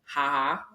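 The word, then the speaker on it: Jaja: It's It's spelled J A J A. It's called Haha.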